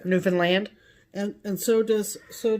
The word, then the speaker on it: Newfoundland: labrador and labrador yeah not not foreign newfoundland pami reed told me that's how you say it she should know she lives there newfoundland and and so does